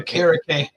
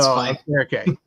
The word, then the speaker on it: Okereke: Okereke. I always say it wrong. So Okereke.